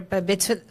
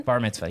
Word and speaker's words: Bar Mitzvah: told me that they're B Mitzvah how do you say it again Bar Mitzvah yeah that it was when